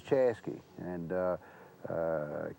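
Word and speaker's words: Chaska: But Chaza, which is spelled C H A S K A, is Chesky and uh uh K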